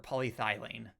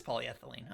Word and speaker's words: polyethylene: bullet resistant armor plating or polythylene or polyeth. No, it is polyethylene.